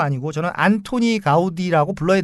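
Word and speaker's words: Antoni Gaudí: 그래서 카탈루냐어로 발음을 하면 이분이 안토니 가우디입니다.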